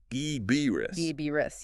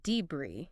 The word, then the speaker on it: debris: But the correct pronunciation is actually debris. Debbie. Yeah, that s is silent. And the stress is on the second syllable.